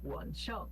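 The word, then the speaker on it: 晚上: Esse shang por si só, ele é pronunciado com o segundo tom, que é o tom de pergunta, né? Shang. Só que ele tá junto com, aqui no zao e no wan, junto com o terceiro tom. Quando ele pega o terceiro tom e junta com o segundo vira o quarto tom.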